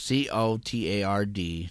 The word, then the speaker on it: Cotard: It's COTARD delusion is how you say it, and we've discussed this before on This the show.